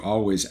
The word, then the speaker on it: Alvvays: And I listen to one or two always albums. Even though it's albbays, guys, you pronounce it always.